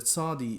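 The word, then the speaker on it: צדי: So these are similar letters in terms of their etymology, but the sadi is pronounced more like pizza, s. That sort of a sound like s.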